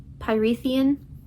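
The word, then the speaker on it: Prythian: I think it's pronounced Pythian.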